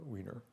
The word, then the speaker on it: Wiener: the uh so uh the other person is norbert weiner or wiener uh i don't know how he pronounced it but the americans pronounce it weiner um anyway or weiner